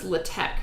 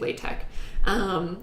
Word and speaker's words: LaTeX: It's pronounced LaTeX, but I say it LaTeX. It's spelled latex, but I say LaTeX.